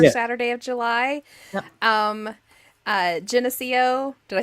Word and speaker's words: Geneseo: Geneseo. Did I say it right? Geneseo?